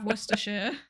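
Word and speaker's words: Worcestershire: We do also we do also have worershir which just misses out an entire syllable.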